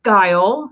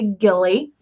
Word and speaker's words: Guile: You pronounce it Guile. A lot of people say Gilly.